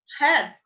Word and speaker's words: had: Palavrinha curta, breve, concisa, de 3 letrinhas, que é a mesma pronúncia de cabeça. Had.